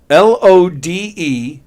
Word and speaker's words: Lodewijk: Paul said Ludwig. However you pronounce it. Vicky said Ludwig. Andy Pagano said Lefty Nuts. Oh, John Russillo said drugstore. Oh, my goodness. You're close enough. It's right. Lodewijk.